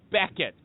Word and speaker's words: Beckitt: His name is Steven Beckett, but it's not spelled like Beckette. It's be E C K I T T.